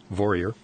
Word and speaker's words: Vorreyer: spelled V o r r ey e r pronounced warrior Laura it's been fascinating enjoyed having you on